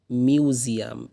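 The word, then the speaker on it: museum: by going to দা মিউজিয়াম এম ইউ এস ইউ ইউ এম মিউ মিউ এস এর উচ্চারণটা জর মত হয় মিউ এর একটা জি সাউন্ড আসবে মিউজিয়াম মিউজিয়াম মিউজিয়াম জাদুঘরে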